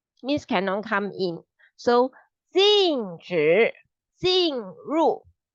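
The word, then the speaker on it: 禁止进入: It will sound like jin, the jin, like hantu, the jin, and then 禁止进入. So first jin is with 止, 禁止. Second jin is with 入, 进入.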